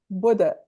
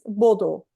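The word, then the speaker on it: Bodø: Buda. Yeah. We Buda. Brazilians, we would read Bodo, but they say Yeah. Buda. Buda.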